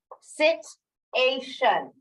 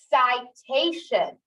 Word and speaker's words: citation: Is this sit? Sit-ation. Sit-ation. That doesn't sound right here in this first syllable. I just flexed the vowel. It wasn't I. My only other option is I. Citation.